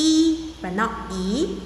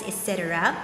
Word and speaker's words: 一: of dancing or exercise etc and you go like now e in this case is pronounced the first tone the eurasian tone this one the year right 1995.